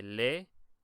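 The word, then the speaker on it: leer: that you'll notice that we have two e right here but these e are each a part of a separate syllable so you would say Le just like that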